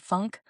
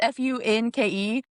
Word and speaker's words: Funke: It has like an E on the end, right? Yeah. I think it was Funke. And literally, the first time I said it, I was like, Caroline, to my mom.